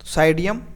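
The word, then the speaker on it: Psidium: का नाम क्या है पी इसमें शायद साइलेंट है साइडियम या पिसाइड सडियम गुआ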